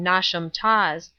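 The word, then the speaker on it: Knotacentinum Towers: place on and around not a sentinel towers pronounced as if written nauseam toss the seat of the Lord not dissent pronounced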